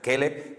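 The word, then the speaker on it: כֶּלֶב: Se pronuncia Caleb para hablar de una persona, se pronuncia Keleb para hablar del perro. Si dice Keleb, está llamando al perro. Si dice Caleb, está llamando a una persona.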